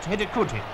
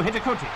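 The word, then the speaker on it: Hidegkuti: The scorer's name is pronounced Hidikuti, I hope. The Olympic champions now started an absolute orgy of scoring. Their second came through Hidikuti.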